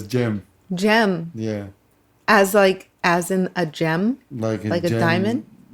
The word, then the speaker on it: Cem: Because the C in Turkish is like a G. Wow, we're already learning stuff about you. Okay. So it's Cem. Gem.